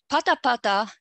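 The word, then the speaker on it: ぱたぱた: they have P initially these forms have the accent on the initial syllable okay now that is um the there is a significant pitch for after the initial syllable so Pata Pata photo now in contrast when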